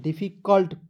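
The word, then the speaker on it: difficult: दोस्तों फी डी फी सी यू एल टी को कल्ट पढ़ा जाएगा क्लियर देखिए बड़े-बड़े वर्ष देकर घबराइए का नहीं इसे कुल्ट नहीं पढ़ लीजिएगा इसे यू जो है यू को साइलेंट ही करना है डिफिकल्ट डिफिकल्ट नहीं पढ़िए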